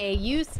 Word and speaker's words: Yusuke: Kuwabara and Yosuke Urameshi are from a very fantastic- Yusuke, okay, well, non-weeb.